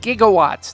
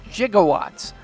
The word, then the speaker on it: gigawatts: It's gigawatts, not gigawatts. When writers Gale and Zemeckis did their research, the scientists they spoke to mispronounced the word, and thus, so did Doc Brown.